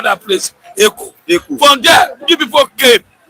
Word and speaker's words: Eko: You say you in Yoruba land say Eko. In Edo say Eko. Eko.